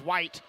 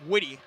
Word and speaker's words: Witty: good for graham witty had to wait for the announcer to announce it so i could know how that's pronounced i thought it was white but that's graham witty who gets the bucket